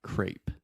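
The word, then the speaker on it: crêpe: So again, when in doubt, when you see French words, you probably are going to add that A sound. Crepe. Crepe. Yeah, Grape, crepe.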